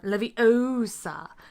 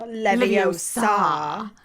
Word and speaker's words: Leviosa: Because in the book, she tells him to make the gar nice and long in Wingardium. Yeah, as Leviosa. opposed to the movie's focus on Leviosa, not Leviosa. And, plus, in the movie,